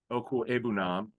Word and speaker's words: Okwuegbunam: Now, Albert Okwuegbunam, that's how you say it.